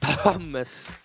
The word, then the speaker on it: Thomas: it could be thomas i actually know how to say that name it's uh it's thomas so it's like a silent h yeah h well no